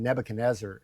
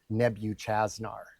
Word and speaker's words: Nebuchadnezzar: a king in the Bible called um Nebuchadnezzar, and I pronounced his name Nebuchaznar.